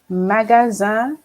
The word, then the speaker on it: magasin: So here we have the S between two vowels, as I said to you. It's basically the Z sound. We've already got a Z sound in the second word, so it's going to be basically the same pronunciation, as with the difference